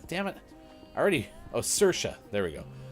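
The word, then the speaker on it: Saoirse: sirsha there we go I forgot how to say it because Sabrina goes search as a Welsh name and I'm like I don't remember how to say it I have to look it up again but you help me it sounds like Sasha so thank you uh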